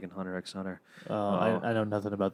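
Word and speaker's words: Hunter × Hunter: cool look they're like the x is silent I'm like it's right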